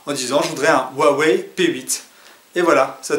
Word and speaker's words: Huawei: en fin de compte pour le prononcer c'est super simple hawei AINS et bien vous allez pouvoir demander ce smartphone à un vendeur très facilement en disant je voudrais un Huawei P8 et voilà ça